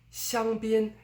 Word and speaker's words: 香槟: We don't say 香槟, but 香槟, it's flat throughout.